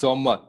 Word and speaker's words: Sommer: Okay, yes is pronounced as Z. So summer, you're gonna call it as Zommer.